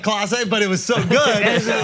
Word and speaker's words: Clase: He said Case, not Clase, but it was so good.